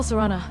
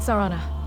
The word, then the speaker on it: Serana: It's still Serana, not Serana.